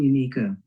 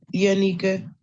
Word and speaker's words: Yanika: Good morning, Yikica. Am I saying your name? Say your name for me so I can make sure I'm saying it correctly. Yanika. Yanika. Thank you for that.